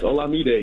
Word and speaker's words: Olamide: by the way y'all keep getting my name wrong me day me day me day day is your name olamide yes hola mi day yeah i'm nigerian hey